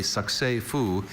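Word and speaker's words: succès fou: Having raked in a whopping $12.46, Trey and Shauna declared their lemonade stand a succès-fou and decided to retire and go get ice cream.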